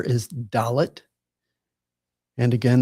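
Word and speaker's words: דלת: And the next letter is dalot. And again this is like the English letter D as in day.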